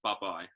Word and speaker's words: Bubye: Luis and well basically on one third of buh-bye it's pronounced buh-bye there is a there's a bit of a